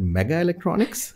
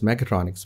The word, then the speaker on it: mechatronics: They could not even pronounce mechatronics well. Some of them said mega electronics. So, it's kind of a mega electronics or something like that. I said, no, it's mechatronics.